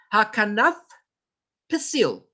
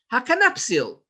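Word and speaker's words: הכנף פתיל: Hakanaf pasil, not hakanapsil. There's no such a word, hakanapsil.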